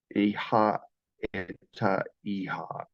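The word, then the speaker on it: אהיה אשר אהיה: Iha eta iha is how they say it in Hebrew.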